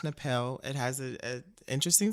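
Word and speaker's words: Tnahpele: um okay so um my artist's name is napel it's pronounced napel it has a a interesting spelling it is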